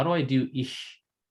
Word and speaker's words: ich: how do I do ich? Am I saying it right, Colton? Ich? Yeah, ish.